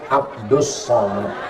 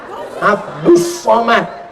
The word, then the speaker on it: Abdul Somad: Kalau ini Abdus Somad. Tulisannya Abdul Somad tapi cara bacanya Abdus Somad.